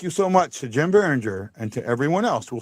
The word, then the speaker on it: Biringer: And I want to say a big thank you to my buddy, my friend, and my pal, Jim Biringer.